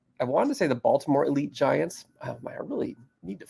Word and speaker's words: Elite Giants: So it was the Elite Giants. They'd look at you funny if you called it elite.